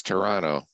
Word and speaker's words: Toronto: of the country because you think there's a t at the end oh no all right because I'm not pronouncing it Tarana it's Toronto Toronto although for some odd reason the last time I was back there people are starting to put the tea back in I don't know must